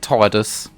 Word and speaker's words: Tidus: Yes, I pronounce it Tidus. Fucking Tidus. Tidus. Anyway. The game is water themed, so it makes sense that his name is Tidus. Like you say Midas, the guy, the golden touch guy, was it King Midas?